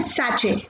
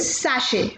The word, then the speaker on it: sachet: लोग यूजुअली इसे प्रोनाउंस करते हैं सैचे, आई रिपीट सैचे, बट इसकी correct pronunciation is सैशे, I repeat it इज सैशे।